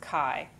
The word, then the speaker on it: chi: And you can see kai is a Greek letter and it looks kind of like a fancy x and it's squared. And that is the pronounced it's spelled ch hi but it's pronounced kai.